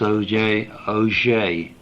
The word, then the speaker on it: Auger: the first people into surface physics with this Auger. It's A-U-G-E-R if you want to spell it.